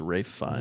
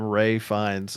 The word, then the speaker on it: Ralph Fiennes: We were saying Ralph. It's Rafe Fiennes. what? Why did Yeah. he pronounce it?